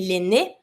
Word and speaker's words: laine: Because there's my E at laine, I'm pronouncing the N, but I'm never going to pronounce the E that has no accent at the end. So I'm not going to say laine, I'm going to say laine.